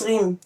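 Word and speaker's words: Raym: Et le prononce Rim ? Oui, on le prononce rim.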